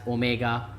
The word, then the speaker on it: omega: Angular velocity is represented by this symbol is pronounced as omega is equal to theta by t.